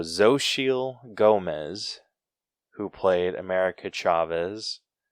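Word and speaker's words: Xochitl: how do you say that social or social okay that sounds right yeah so zo shiel gomez who played america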